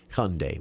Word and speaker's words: Hyundai: But it is actually pronounced just Hyundai with a little bit of a ya in there if you can throw it in.